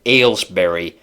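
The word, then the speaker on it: Aylesbury: it comes through but I always have a little mental break with alsberry because it's spelled a y l s Berry and uh that a y I'm never quite sure how to say it until I see the second syllable and then I realized like oh alss okay okay they found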